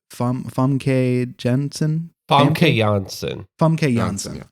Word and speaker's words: Famke Janssen: Famke Janssen.